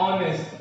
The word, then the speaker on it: honest: Okay, and honest. Okay, this is because h is silent in these words.